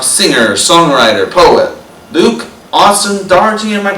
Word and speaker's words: Daugherty: the night talk singer songwriter poet Luke Austin Doherty and my pronouncing your last name right yeah you got